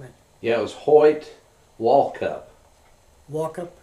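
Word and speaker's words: Walkup: you happen to know is that the correct pronunciation on his name and yeah it was Hoy wallup wup wallup w w a l k u p wup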